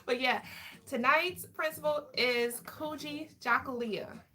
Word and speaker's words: Kujichagulia: I'm like, I can spell it. But yeah, tonight's principle is Kujichagulia. Kujichagulia.